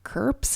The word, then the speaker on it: CRPS: know i love you today we're talking curps and malls c-r-p-s and m-a-l-s at least the second one has something that you can pronounce but curps is a little odd to go around saying so crps and mals crps